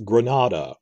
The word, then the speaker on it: Granada: did it like that it's granada rhymes with nevada the state in the usa that las vegas is in now that's bad example